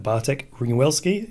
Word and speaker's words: Bartek Ringwelski: Bartek Ringwelski. Is that the way to pronounce it?